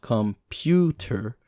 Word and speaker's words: computer: stressing out in english we place extra heavy stress on one syllable in each word for example computer needs to be pronounced computer in order to sound right for you linguistic types